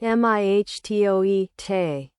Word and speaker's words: mitote: Pronounced mihtoe, te.